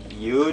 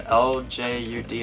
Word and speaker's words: Ljud: This is Andreas Tilliander with the album LJUD. I think it's pronounced something like Ljud. I don't think you would really say the L too much.